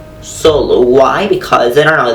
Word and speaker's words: solo: many english speakers that when they say words that finish in the letter o they usually pronounce it like oh like for example solo solo solo why because i don't